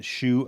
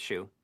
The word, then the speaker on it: Hsu: So this is when Dan Shu. I don't know how you pronounce his last name. HSU. Yeah, I think it's Shoe. Yeah. I mean, So it's Dan yeah, Shu because it says Shu.